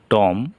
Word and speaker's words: tomb: এ জায়গায় আছে BOMB, বম, বোমা, কিন্তু এইখানে বি উচ্চারণ হলো না। যেমন TOMB, টম, কবর।